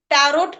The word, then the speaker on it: tarot: टी ए आर ओ टी टैरोट बट जब हम बोलेंगे उसका उच्चारण करेंगे तो वह सिर्फ टैरो ही होगा। वहां पर टी साइलेंट हो जाएगा।